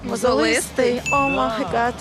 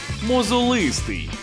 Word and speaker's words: мозолистий: не погоджується і виявляється правильно казати саме мозолистий уявляєте Ну якщо мозоль то мозолистий мабуть мозолистий мозолистий Так саме мозолистий запам'ятали у цьому слові наголос буде на третій склад мозолистий Все до побачення давайте